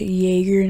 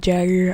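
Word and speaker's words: Jäger: It's Jaeger, not Jagger. I used to think it was Jagger.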